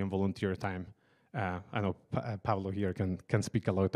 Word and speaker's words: Pablo: So with that, I'm gonna pass it to Pablo. That's how you pronounce it in Spanish, no Pablo, or yeah, and he's gonna speak about his work in CPython.